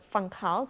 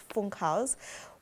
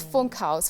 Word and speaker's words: Funkhaus: would want to say funk house because of the you but in german the u is pronounced ooh so it's funk house phone calls means um